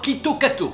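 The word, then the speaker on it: キットカット: populaire là-bas parce que Kit Kat se prononce tout d'abord Quito Kato qui rappelle l'expression Quito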